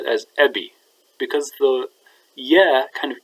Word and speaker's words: أب: The paradigm is pronounced like this: father, eb, ebi, or abui, abuk, abuki, abu, abua, abuna, abukun, abuun.